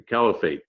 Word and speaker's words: Caliphate: that's how you say it, the Caliphate, the Khalifa.